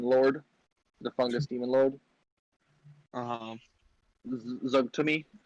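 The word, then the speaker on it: Zuggtmoy: Zugtumi, I believe, is how you pronounce her name.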